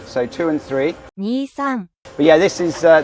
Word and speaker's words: Nissan: And that's because the number two is pronounced ni and in Japanese and the number three is pronounced s. So, two and three. Nissan.